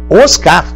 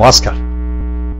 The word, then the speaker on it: Oscar: pois é cateté e o prêmio da academia americana cinema é oscar e não os k olha como se pronuncia